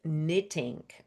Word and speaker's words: knitting: The next word is the word knitting. Uh pronunciation alert because there is letter K at the beginning which is silent and to knit means create fabric by looping yarn with needles.